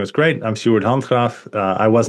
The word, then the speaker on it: Sjoerd Handgraaf: Your the way you pronounce my name is great. I'm Steuart Hunra.